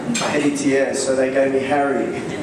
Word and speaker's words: Heritier: in Rio de Janeiro, Brazil, but when I came to Australia, no one knew how to pronounce my name, Heritier, so they gave me Harry.